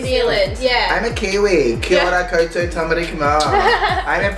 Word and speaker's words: kia ora: Kia ora koutou tamari kama.